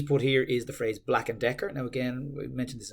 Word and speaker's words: Black and Decker: stuff like that but you could say it's four syllables that you can say quite fast Black and Decker Black and Decker Black and Decker Black